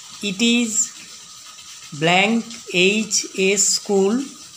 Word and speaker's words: HS: It is blank HS school. H a vowel sound, তাই an HS school an.